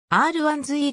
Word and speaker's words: R1-Z: いう説がある r 1 ずいいという読み方は当時のカタログにも掲載されていたライバル機種は 2